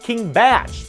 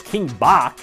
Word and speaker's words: King Bach: first kill count that it's pronounced king batch even though i mean look at that spelling you can't get mad at me for reading it as king bach there was another bach